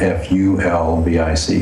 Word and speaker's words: fulvic: That's spelled F-U-L-V-I-C, fulvic.